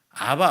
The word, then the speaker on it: 아바: 아버지는 헬라의 아버지예요 그까 아바 아버지 아빠 아버지 이렇게 불렀다는 거예요 엄청 밀 믿게 부른 거예요 둘 다 아버지지만 아빠 뭐 이렇게 아바야 아바 우리나라 아빠하고 비슷하죠 발음상 그렇게 불러 굉장히 우리도 아버지